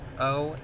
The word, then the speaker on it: Olentangy: The address here is at 50 West Olentangy Street. I don't know if that's how you say it. Olentangy. It's Olentangy.